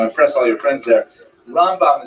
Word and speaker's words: Rambam: all your friends there rambam is pronounced with the emphasis on the first syllable ran and ran is